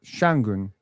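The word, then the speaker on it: Şengün: I remember the day you asked me how to pronounce exactly. Yeah. Yeah. Yeah. Sengun. Sengun. Sengun. Sengun. Sengun. Sengun. Ah, that sounded right. Sengun.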